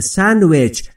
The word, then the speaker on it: sandwich: من میگم I'm eating a sandwich. من دارم یه ساندویچ میخورم. Sandwich، تلفظش رو دقت بفرمایید. Sandwich، دیش یه مقدار مخفی میشه.